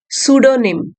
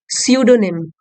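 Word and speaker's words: pseudonym: प्रेमचंद जी ने द सूडो निम P silent है यहां पे सूडो निम डिस्कार्डेड मतलब त्याग देना या छोड़ देना सो प्रेमचंद जी ने उस समय छोड़ दिया त्याग दिया द सूडो निम सूडो निम पी साइलेंट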